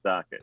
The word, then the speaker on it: Sochet: It's spelled French, pronounced Socket.